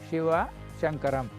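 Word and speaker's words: Shiva Shankaran: They will write SIVA, SAN, KARAN. So actually we call Shiva Shankaram.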